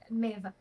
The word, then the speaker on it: Maeve: And is it Maeve, before I pronounce it wrong? Yeah, my Maeve.